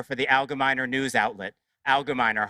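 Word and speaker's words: Algemeiner: And for me as a professor, most painfully, it's in the universities, which I monitor for the Allgemeiner news outlet, Allgemeiner, hard G.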